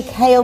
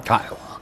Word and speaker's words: Kyle: I always wanted to say Kale because of the way you spell it, but it's not. It's Kyle. Kyle.